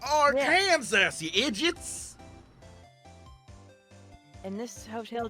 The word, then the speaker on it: Arkansas: It's pronounced Arkansas, you idiots!